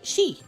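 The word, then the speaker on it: 四: four can be pronounced she it's like the same as saying death she smiles and giggles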